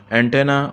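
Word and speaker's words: antennae: Fungus हमने कल देखा था US के साथ, कैक्टस, कैक्टाई, फंगस, फंगी, और एंटेना, एंटेना और एंटनी, ये इसकी प्रोनाउंसिएशन है एंटनी, प्लूरल जो है एंटेना और एंटनी।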